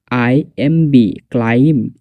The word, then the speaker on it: climb: B silence হয় যখন এম এর পরে আসে, তখন বি সাইলেন্স হয়। ফর এক্সাম্পল CLIMB ক্লাইম, এখানে বি সাইলেন্স, কিন্তু লেখার ক্ষেত্রে ক্লাইম শব্দের ক্ষেত্রে যখন লেখার ক্ষেত্রে বি এখানে লিখতে হবে।